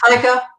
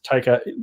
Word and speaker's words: Taika: Taika. Yes, Taika.